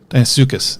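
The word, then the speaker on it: Deinosuchus: Dinosuchus, that's how you say it.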